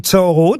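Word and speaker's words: Thoreau: tout ça pourquoi pour acquérir des poignées de porte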